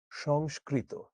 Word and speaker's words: সংস্কৃত: এটার উচ্চারণ হচ্ছে সংস্কৃত।